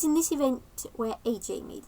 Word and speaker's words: Ajjay: It's just looking at it, it's spelled A J A Y.